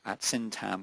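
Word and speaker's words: Syntagm: Hudson uh syam with a silent g s y n tm.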